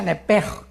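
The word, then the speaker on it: נפש: Se pronuncia nepej, porque la CH en hebreo es j, nepej, y la palabra espíritu es ruach, se escribe ruach.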